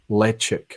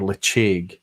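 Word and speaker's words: Ledaig: Tobermory spitted expressions are branded let check or leaching depending on how you want to pronounce it Lech ik but what does it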